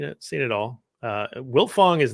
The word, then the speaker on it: Wiltfong: seen it all uh wilfong is not a common name but that's hard to mispronounce and hard to misspell right it's very it is mispronounced all the time people leave off the tee my my own father